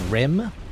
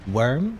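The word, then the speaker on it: wyrm: lot of damage really it's rim not worm really i've always pronounced it worm i don't know i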